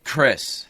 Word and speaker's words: Chris: ch. Chris. The H is silent.